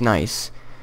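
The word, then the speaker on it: gneiss: Yeah, but he also added nice to it, G-N-E-I-S-S, which actually spells, it's pronounced nice.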